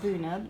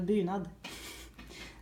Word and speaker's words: bunad: Oh, this is Nora wearing her bunad, which is. See, I just pronounce that like an American. It's called a bunad.